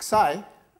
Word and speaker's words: psi: This is pronounced as psi, no, yeah, psi.